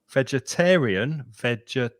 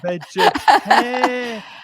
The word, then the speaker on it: vegetarian: Vegetarian. It's Rian. five Five. syllables. Uh-huh. And the Mm-hmm. stress moves to the middle finger, the middle syllable.